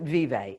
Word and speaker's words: Vive: So I pronounce it vive.